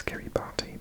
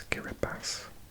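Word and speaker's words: Kiribati: Solomon Islands Kiri bass again I used to pronounce this Kiri party but it's kir bass and others this is part of New Zealand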